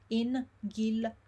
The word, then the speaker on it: Inghilterra: here, and it's Inghilterra, Inghilterra. A long word again. What most people do here is they miss syllable. You don't want to miss syllable, so it's Inghilterra.